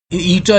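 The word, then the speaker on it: η: Refractive index है water का, इसको ईटा प्रोनाउंस करते हैं, ये एन टाइप का बना हुआ है लेकिन ये ईटा होता है, ये 1.333 ये आपने लिख दिया।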